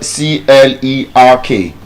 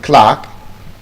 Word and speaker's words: clerk: For example, the word CLERK. Some people call it clerk, some people call it clark, but the correct pronunciation is Clark.